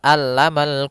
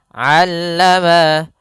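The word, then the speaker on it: عَلَّمَ: Kemudian tadi kami terlewat yaitu pada huruf ain jangan sampai dibaca alamal quran. Jangan pakai alif, jangan pakai hamzah. Tapi di sini huruf ain. A aa allama allamal quran.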